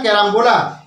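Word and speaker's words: carambola: এ আর এ এম বি ও এল এ ক্যারাম্বোলা তার Bangla pronunciation কেমন হবে ক জফ আকার র আকার ম বয় আকার ল আকার ক্যারাম্বোলা এবং দ্বিতীয় যে বানানটা কি আছে স্টার ফ্রুট এস টি এ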